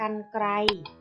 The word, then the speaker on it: กรรไกร: สะกด กัน นะ คะ เมื่อ รอ หัน อยู่ หลัง พยัญชนะ และ ไม่ มี ตัว สะกด ให้ อ่าน ออก เสียง อัน ยก ตัว อย่าง เช่น กรรไกร อ่าน ว่า กรรไกร บรรลุ อ่าน ว่า บรรลุ